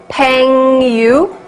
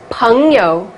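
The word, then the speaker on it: 朋友: of this word and how would you pronounce it Peng you no definitely not Eng is um like an uncle so um Poong and yo is like in yo ho that yo so it's Pun yo not Peng you write pinyin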